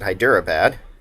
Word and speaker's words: Hyderabad: the opinion of hyper hyderabad that's how you pronounce it hyderabad and increase dynam up to friendly um our